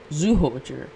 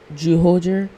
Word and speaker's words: Zyuohger: In the number 4 spot, we have Zyuohger. Now, this team can also be actually pronounced as Zyuohger with a J instead of a Z.